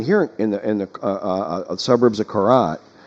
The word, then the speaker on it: Korat: I mean, here in the suburbs of Korat, I'm trying to pronounce it with the R more.